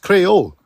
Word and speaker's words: Creole: That's how it's pronounced, Creole.